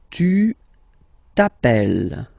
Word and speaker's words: tu t'appelles: Alright, second form, tu t'appelles. Okay, remember, final S not pronounced. Tu t'appelles.